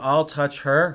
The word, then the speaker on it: Altucher: your last name uh it's like i'll touch her fast i'll teacher and